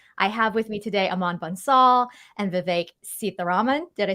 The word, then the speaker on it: Aman Bansal: I have with me today Aman Bansal and Vivek Sitharaman.